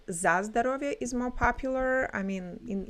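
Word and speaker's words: за здоровье: I'm going to speak for myself, but um like people do say zazovia for health when you're like in the family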